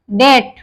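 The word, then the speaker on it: debt: है ठीक है जैसे Depp डेट डी ई बीटी तो ये बी के बाद टी आ गया है यहां हमने बताया बी के बाद टी आ जाता है तो वहां भी बी साइलेंट रहता है डेट डाउट डाउट बोलेंगे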